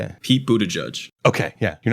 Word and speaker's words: Buttigieg: It's Pete Buttigieg.